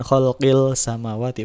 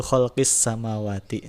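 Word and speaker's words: خلق السماوات: itu cara membacanya juga alif lam nya tidak dibaca seperti halnya matahari langsung ke huruf Sin selanjutnya Jadi bukan Kholil samawati Bukan tapi langsung ke khuluq huruf Sin itu kholqis samawati seperti itu mudahnya cirinya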